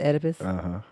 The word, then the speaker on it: Oedipus: this is good uh you don't pronounce the oh oh just oedipus why they